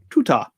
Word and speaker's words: Tutar: Spelled like tutor, but with an A. Tutar.